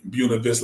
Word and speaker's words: Buena Vista: it's funny because we say Buena Vista, like you said, we know it's actually Buena Vista. Actually, that's how to pronounce it. But you know us, the black Hmm. people, we changed to Buena Vista.